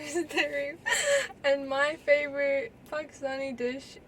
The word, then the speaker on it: Tehreem: Her name is Tehreem, and that's how we pronounce it, folks. Not Tareem, like all her other friends pronounce it.